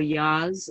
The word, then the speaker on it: yaws: So yaws or yas, as it's pronounced in Trinidad, and bilharzia and all those diseases were found to be very prevalent among Indians.